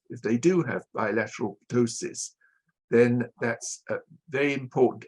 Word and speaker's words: ptosis: I'm not sure how you pronounce ptosis in Greece. Yeah. Is it ptosis? Ptosis. We Ptosis. have a P in, yeah.